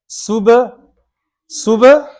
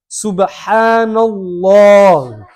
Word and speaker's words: Subhanallah: There's Ha, like we talked about the Ha there. Now we're learning Arabic letters. Subhanallah. Lam, remember we talked about Allah's name being thick? Subhanallah.